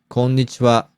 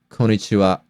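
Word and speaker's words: こんにちは: duration as other mores when a non-native speaker pronounces konnichiwa it sometimes becomes konichiwa it's perfectory okay but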